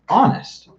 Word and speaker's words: honest: Honest. Remember, guys, honest is a little bit of a tricky one because even though the spelling starts with a consonant, what about the sound?